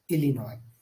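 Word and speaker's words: Illinois: आई एस सो यहां पर जो है आपको साइलेंट मिलेगा वो होगा alinoid उसी तरह कैंसर की बात करें तो आर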